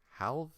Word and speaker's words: halve: you get a choice halve is pronounced the same as have learning english is hard